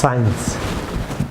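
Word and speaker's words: science: যেমন সায়েন্স, সি সাইলেন্ট থাকবে, সায়েন্স।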